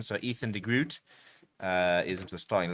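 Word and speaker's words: Ethan de Groot: Ethan Ethan Degrroot as as they say. And that's how he says that's how we have to say I suppose. Got to respect his um pronunciation. So Ethan Degrroot uh is into the starting lineup.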